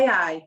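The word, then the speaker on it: wey aye: It looks like W-E-Y-A-Y-E. Yeah. So like, way I. Way. That's how you pronounce it.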